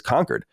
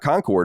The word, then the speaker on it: Concord: Granite State roots and start pronouncing it correctly as conquered and not Concord or we have your